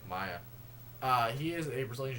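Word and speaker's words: Maia: demi and maya uh i believe that's how you pronounce his last name maya it's like m-a-i-a maya uh he is a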